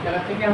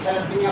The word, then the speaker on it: থ্যালাসেমিয়া: বুঝতে পারবো তাদের যাদের থ্যালাসেমিয়া হচ্ছে তাদের লক্ষণটা কি করে তাহলে প্রথম এই রোগটার নাম কি বলছে থ্যালাসেমিয়া থ্যালাসিমিয়া থ্যাসিলামিয়া থ্যালাসিমিয়া এই উচ্চারণটা ঠিক রাখবে তাহলে যাদের এই সমস্যাটা